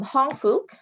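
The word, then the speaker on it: Hong Fook: with um your program i think they were pronouncing it hong fuk is that correct i'm not sure yes it is um hong fuk uh it's spelled h-o-n-g f-o-o-k um mental health association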